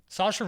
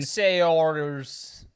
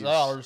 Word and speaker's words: Saoirse: Sayors. Sayoris. Saoirse That's how I used to pronounce Listen, we it.